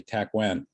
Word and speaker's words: Takwan: And in SM'ALGYA, we say Takwan. That's our pronunciation of that Tlingit word.